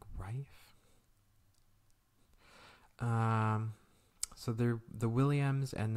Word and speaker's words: Ralph: I think his first name is pronounced like Rife, isn't it? I keep forgetting that. It's not Ralph. It's like Rife.